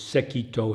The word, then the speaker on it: Sekito: by way of background these two masters sekito and basso in Japanese pronunciation they lived on mountains